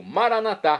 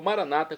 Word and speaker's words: Maranatá: E agora eu clamo Maranatá, como dizemos nós católicos, ou Maranata, como dizem nossos irmãos separados, os evangélicos ou protestantes.